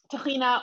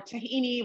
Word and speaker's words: tahina: we call israel's mother sauce uh tahina and tahina or tahini regardless of how you pronounce it is simply uh sesame seeds that